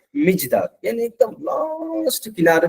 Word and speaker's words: Mijdal: उनका born in मिजदाल, याद रखिएगा, MIJDAL, मिजदाल, इसका प्रोनाउंस है मिजदाल, ए village on द आउट ऑफ, उस पे क्या है, आउटस्कर्ट्स पे है, ऑफ the city of Basra.